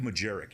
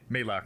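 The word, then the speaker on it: Majlak: Mike Majerick, you know the guy, the co-host with Yeah, Logan Mike Paul? How'd you say it? Malak. Malak. Sorry, I said his name wrong.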